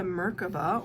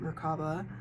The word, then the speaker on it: merkaba: this and we see the merkava or merkaba shape here the kind of pyramid inside of pyramid um I pronounce it merkaba um that is the